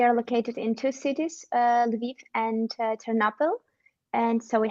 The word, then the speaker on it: Lviv: We are located in two cities, Lviv and Ternopil, and so we have offices in two cities.